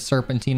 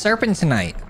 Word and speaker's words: serpentinite: So I want to see just how many weapons I can get serpentine on in one game. And I know what you're going to say. Actually, it's serpentinite. That's got too many syllables for me.